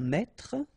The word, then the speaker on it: mètre: un mètre, and so you will have the translation here. Un mètre, and then un mètre as well. Okay, so un mètre and un mètre, same pronunciation.